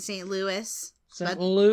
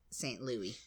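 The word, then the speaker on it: St. Louis: well um I think the majority of people pronounce it St Louis Lou but there definitely is are there is there are some people who would pronounce it St Louie and the next one Salam salum I used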